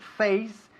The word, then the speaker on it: face: Face se pronuncia face, se escribe face, pero se pronuncia face. No se pronuncia fe o fe.